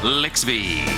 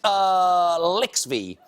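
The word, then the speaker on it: LXVII: Now, the reason we're calling it Lixby is because that's the night of Super Bowl 50, but it's my 87th show, and I believe that's how you pronounce the Roman numerals over there. Lixby.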